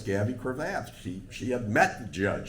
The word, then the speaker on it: Gavy Cravath: started this, I didn't I thought I knew how to pronounce his name. It was Gabby Kravath, and she corrected me. No, it's Gabby Cravath.